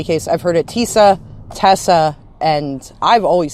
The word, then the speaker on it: Teysa: But in any case, I've heard it Teysa, Tessa, and I've always said it Teysa. Like, that's what the EY to me says.